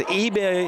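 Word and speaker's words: Ibeh: It says eBay is the pronunciation.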